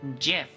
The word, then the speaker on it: GIF: does live Ash TTS does live because it's pronounced JF like the peanut butter but anyway before we